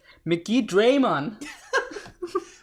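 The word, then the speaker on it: Megidramon: his name mickey drummond actually if you want to go by the digimon next word when the world next order pronounce this is mcgee draymond fair hair but yeah mikitraman which you may look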